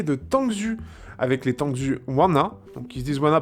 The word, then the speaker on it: Waner: On lit Wanner, mais c'est Wanna. Ça se prononce comme ça.